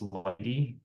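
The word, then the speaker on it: lighttpd: top the web server software will be uh Lighty which is well it's it looks like it's spelled light httpd but it's a generally speaking it's pronounced Lighty and um for the key exchange we'll be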